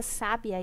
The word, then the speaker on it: sabiá: significado dessa palavra sabia sabiá sabiá né a mudança da sílaba tônica em cada uma das palavras e a mudança do significado que elas tinham por causa